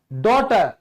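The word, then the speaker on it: daughter: Height, डॉटर। देखो भाई, इसमें भी जी साइलेंट है।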